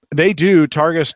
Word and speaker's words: Targus: Is that how you pronounce that? Targus.